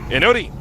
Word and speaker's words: Inori: Inori.